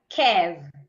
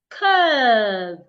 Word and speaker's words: curve: It's not kev. It's curve. The u r there should be articulated as a long sound.